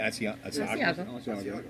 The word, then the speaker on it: Asiago: How do you pronounce it? Asiago.